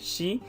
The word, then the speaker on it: 四: number four uh where number four is both pronounced as yon and shi nana is pronounced also as shichi so it